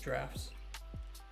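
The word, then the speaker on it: draughts: puses drams draft Etc also can we talk about how ridiculous it is that this is pronounced drafts why I don't like it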